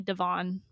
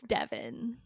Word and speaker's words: Devin: One of my mom's friends who does like Botox and stuff, she always calls me Devon, and I can't change. I can't. Devon. But how am I gonna be like, it's Devin?